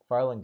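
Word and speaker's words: Fharlanghn: was a part of hearing how do I pronounce is Farland again Farland good Farland again yes they dwell are on the horizon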